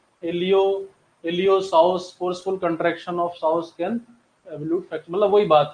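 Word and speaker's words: psoas: इट इज दी स of attachment of एलियो एलियोस forceful construction of साउस कैनोल्यूट मतलब वही बात है अगर एलियोस मसल यहां पर अटैच होता है ये पी यहां पर जो है साइलेंट है तो एलियो साउस मसल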